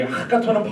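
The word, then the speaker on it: הקטן: 이 하카톤은 발음을 좀 침을 튀면서 해야 돼요. 하카톤. 이렇게 해야 발음이 좋은 거예요.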